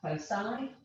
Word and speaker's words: foci: like this and i i presume you pronounce that foci if you say foci